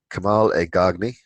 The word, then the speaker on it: Kamal Elgargni: Kamal Elgargni. That's how you pronounce it. Kamal, everyone just calls him Kamal.